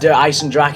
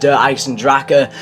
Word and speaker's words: Der Eisendrache: say do I Sandra and it's not actually pronounced do I sandrak it's pronounced derives and Draka so i'm sorry if i keep on pronouncing